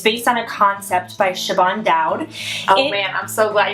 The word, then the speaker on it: Siobhan: She has an Irish name, and that doesn't even make sense. Yeah. Siobhan. I've been saying Siobhan for about 15 years.